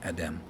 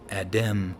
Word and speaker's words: Adam: A is a vowel, so we'd say Adam. And I don't think anybody would disagree that you would say Adam rather than Adem or Adim, right?